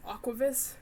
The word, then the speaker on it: AKQVWS: Because, honestly, it's easier to spell and say versus Aquavis, which phonetically is wrong, but I don't care.